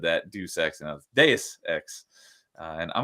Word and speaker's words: Deus Ex: So DJ Ronnie G says I used to think it was Deuce X, like pronouncing it Deuce. Yeah, I know. A lot of people said that Deus Ex and Deus Ex.